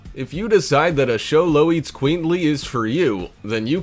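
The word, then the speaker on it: Xoloitzcuintli: name that you'll barely be able to pronounce show low eats queenly there are plenty of ways this pooch is one of the rarest in the world show low that's how you say it yeah show the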